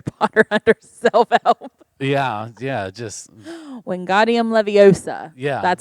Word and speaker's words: Wingardium Leviosa: Yeah, just Wingardium Leviosa.